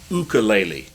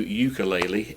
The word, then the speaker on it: ukulele: people say it's pronounced ukulele ukulele and i pronounce it with a long u ukulele i apologize for that